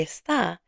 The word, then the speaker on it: está: So note that está has an accent mark. Say this with me. Está. ¿Dónde está? ¿Cómo está? Without the accent mark, the word is this. You've been saying this in many lessons already. Let's read these together and hear the difference. Esta mañana. Esta tarde. Esta noche. The accent marks are there to help you with pronunciation.